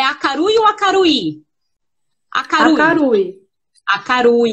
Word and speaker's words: Akarui: Acarui. Então, a pronúncia é Acarui, gente.